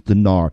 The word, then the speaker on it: dinar: dinar I guess it's I guess the proper pronunciation is dinar its tits the Islamic